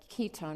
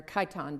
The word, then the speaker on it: chiton: sea mollusk in it called a chiton or chiton, depending on which way if you want to go with the Greek pronunciation or the Latin.